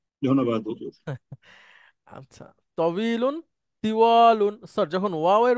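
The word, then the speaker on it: طويل: না হিনা স্যার ভ বাংলার যে ব সেটার মত কিছুটা তবিলুন ইয়েস তবিলুন মানে স্যার লম্বা ঠিক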